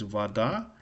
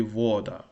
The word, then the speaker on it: вода: So the correct pronunciation of this word is, I think it's correct, is vada. And if you pronounce it, the stress wrong, it will be voda, which is completely different.